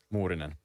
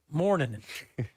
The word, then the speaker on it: Morningen: What's your family's correct pronunciation of your last name? Morningen. Morningen. Yeah, that's the Finnish way.